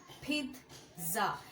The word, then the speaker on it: pizza: এটাকে আমরা most of the time বলে থাকি পিৎজা অর এনিথিং এলস, কিন্তু এটার প্রোনাউন্সিয়েশন কিন্তু পিৎজা। এখানে একটা টি সাউন্ড আছে যেটা অনেকেই প্রোনাউন্স করে না।